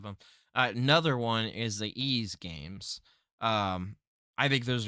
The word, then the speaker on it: Ys: last week uh and when I see ease it's Ys it's that's how you pronounce it ease um there's a new